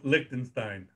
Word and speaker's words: Liechtenstein: They had a draw with Liechtenstein. Am I saying it right? How do you say it? Nope, Liechtenstein. Liechtenstein. Thank you, Rich.